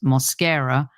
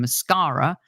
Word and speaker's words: Mosquera: Mosquera, who, by the way, our other listener learned how to pronounce Mosquera during the broadcast. So there's another one for you, Demian. Apparently they were calling him Mascara.